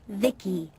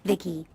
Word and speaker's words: VI: transistors by the way I'm VI I I pronounced Vicki my Creator was BB secto he's what you humans would call A Healer or maybe a repair person yep I'm VI pronounced Vicki came out here to